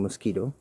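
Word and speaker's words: Mosquitto: It's like, hey, we could probably automate this thing, probably using Mosquito, which is a service you subscribe to. It's spelled different, but it is just like the bug.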